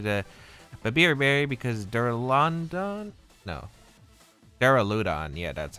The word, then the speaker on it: Duraludon: Duraludon, yeah, that's how you pronounce it.